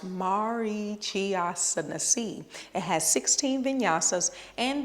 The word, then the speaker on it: Marichyasana: we're going to talk about Mari chasi it's pronounced Mari chiai it has 16 vasas and the dristi is